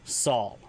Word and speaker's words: sal: So if you want to say color, it's Sal, spelled S-A-L.